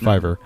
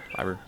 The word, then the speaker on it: Fiverr: mispronounced that but no that's actually how it's pronounced Fiverr Fiverr I every time I say it I feel